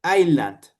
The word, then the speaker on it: island: At the little island. Be careful with this. We don't pronounce the S.